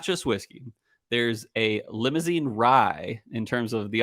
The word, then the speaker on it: Limousin: So it's like the French. Limousine. Yeah, exactly. Limousin.